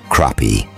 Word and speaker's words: crappie: Crappie, pronounced crappie, are prolific and grow to about 2 pounds in 18 months or so.